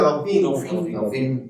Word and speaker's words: Dauphine: Así se pronuncia Dauphine.